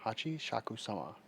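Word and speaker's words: Hachishakusama: Hachi Shakusama. That's how you say it.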